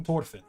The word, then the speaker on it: Thorfinn: I call him Thorfinn, and that's the reason why is because that's how they pronounce it in Japanese, and I've only ever watched it in Japanese.